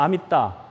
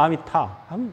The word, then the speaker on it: 아미타: 그 산스크리트어기 때문에 그게 따와 타의 중간음이에요. 그러니까 그냥 좋을 대로 내세요. 나는 따가 편해 그러면 아미따. 나는 타가 편해 그러면 아미타. 상관없어요. 어차피 그 중간음이야.